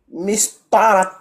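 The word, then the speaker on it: مسطرة: Mistaratun. Voilà. Mistaratun. À l'arrêt. Mistara.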